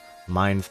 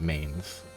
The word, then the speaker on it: Mainz: didn't actually name itself Minds mining Village okay apparently it's supposed to be pronounced minds and not mains which I mean I